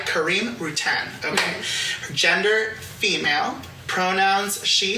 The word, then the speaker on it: Rutan: hel's positionality so her name is kareim routen how am I pronouncing that correct and it's kareim routen okay gender female pronouns she her hers race